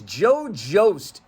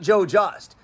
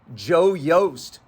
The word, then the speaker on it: Joe Jost: of the way first apparently the pronunciation at least to locals is Joe Joost not Joe just but the thing is the Founder's name was actually Joe yoast that's right the founder